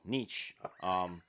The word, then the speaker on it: Nietzsche: of Nietzsche, he said you have to have balance.